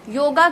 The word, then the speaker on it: योग: दिन जाकर, जो आजकल योगा को लेकर भी है। ठीक है, सबसे पहली बात, योगा जैसी कोई चीज नहीं होती है, योग होता है।